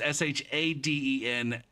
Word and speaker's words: Schadenfreude: That's why it's called it's why it's like the Schadenfreude. Well, how's that pronounced? Shauden. No, it's Shaden.